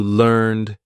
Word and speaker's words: learned: need to rhyme so learned needs to rhyme with concerned this is exactly the same sound we're going to do learned concerned like that now try